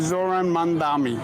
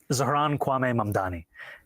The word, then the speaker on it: Zohran Kwame Mamdani: This is how he does it. I'm running against a man named Zoran Mandami. He's a socialist. If you can respond to that and tell us how you say it, your full name. Zohran Kwame Mamdani.